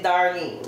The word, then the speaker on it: Darlene: Non, on dit pas Darlene, on dit Darlene. Puis ça s'écrit D-A-R-L-E-N-E et non ma chérie Darlene, mais on peut dire...